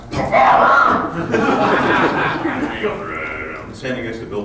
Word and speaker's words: Pfarrer: He goes, "My name is Pfarrer. That's pronounced Pfarrer."